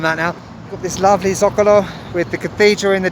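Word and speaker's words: Zócalo: Okay, we're now in that one word that I dread saying when I'm in Mexico because I always pronounce it wrong. The Zocalo, not the Zocalo as I used to say about 2 years ago.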